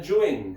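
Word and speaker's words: Yuan: Entonces vamos a hablar de la dinastía Yuen, ¿ok? Escribe con A, se pronuncia con E, ¿ok?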